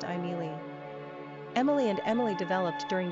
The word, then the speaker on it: Émilie: In France the name is pronounced Emilie.